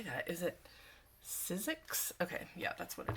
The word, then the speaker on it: Sizzix: Is it Sizzix? Okay, yeah, that's what it is. Sizzix.